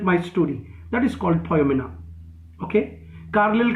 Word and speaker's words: Poioumena: फायुमिना का स्पेलिंग लिखो, POIOUMENA, फायुमिना, POIOUMENA, फायुमिना।